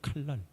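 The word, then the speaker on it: קלל: 칼랄. 칼랄인데 그냥 칼날 칼날 같은 발음이에요. 여러분 저주는 칼날입니다.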